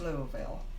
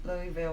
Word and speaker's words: Louisville: Now, see, I called it Louisville. And they were saying Louisville, and finally they said Louisville, and that was correct, Louisville. But I called it Louisville because I've always said Louis.